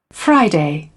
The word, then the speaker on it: Friday: फ्राई के ऊपर stress है फर्स्ट सिलेबल पे, फ्राइडे, फ्राइडे, फ्राइडे, फ्राइडे नहीं है, तो इसको ठीक करना है।